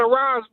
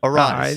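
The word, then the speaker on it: Aráez: The last time he gave us he rolled the R.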